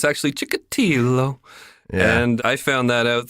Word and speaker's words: Chikatilo: chickadee hello a lot of people call him Chikatilo but it's actually chickity though and I found that out through listening to